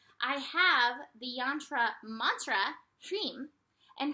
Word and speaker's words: Hreem: I have the yantra mantra Hreem, and Hreem is kind of like Om.